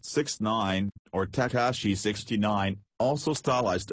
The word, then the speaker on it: 6ix9ine: Daniel Hernandez, born May 8, 1996, known professionally as 6ix9ine, pronounced 6ix9ine, or Tekashi 69, also stylized as Tekashi 6ix9ine, is an American rapper.